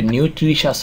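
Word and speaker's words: nutritious: 40 নম্বরে নিউট্রিশাস অর্থ কি? পুষ্টিকর। নিউট্রি, এটা তোমরা এইভাবে পড়তে পারো, নিউট্রিশাস অর্থ নিউট্রিশাস অর্থ কি? পুষ্টিকর। TIOUS নিউট্রিশাস, পুষ্টিকর। আচ্ছা, আবার বলছি, নিউট্রিশাস, নিউট্রিশাস, নিউট্রিশাস, এটার উচ্চারণ হবে শ্বাস, শ্বাস, পুষ্টিকর।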